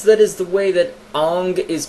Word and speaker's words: Aang: entirety of the show the character's name is pronounced Aang then guess what it's Aang because they made it up and that's how